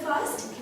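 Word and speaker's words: France: फ्राम्स फ्र ओके ो the spelling is same but the pronunciation इ different we don't say फ्रांस फ्रांस okay it's a nasal sound over here फ्रास फस शीन शी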